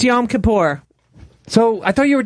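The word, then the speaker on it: Yom Kippur: I thought yam kapor you guys don't even know how to say it it's yam kapor so I thought you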